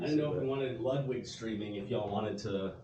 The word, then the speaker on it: Ludwig: so funny I mean technically the German pronunciations Ludwig but it's about as much Ludwig as it should be Ludwig right so for people who say it's Ludwig as opposed to Ludwig I mean if we're